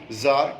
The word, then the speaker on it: Tsar: जार, TSAR, इसमें लगता टी है, टी साइलेंट है, जार बोलते हैं इसको।